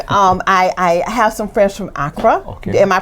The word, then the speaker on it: Accra: I have some friends from Accra. Okay. Am I pronouncing it correctly? Yeah, Accra.